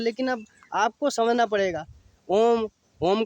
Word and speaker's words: ओम: का उच्चारण किया था, तो ओम का उच्चारण ऐसा नहीं, ओम का थोड़ा आ ए ई उ म ऐसे आए, ओम मैंने पाँचों शब्द उसमें, 5 6 शब्द पूरे आते हैं उसके अंदर।